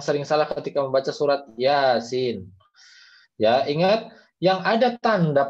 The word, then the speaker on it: Yasin: Jadi ketika baca ini kalian jangan bacanya Yasin salah ya. Harusnya iya dulu 2 harokat baru sinnya 6 harokat. Yasin begitu ya.